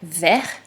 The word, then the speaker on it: vert: tu avais la syllabe vert comme dans le mot vert alors regarde le mot vert il se termine par une lettre muette la lettre t qui sert à faire le mot verte donc vers écrit comme ça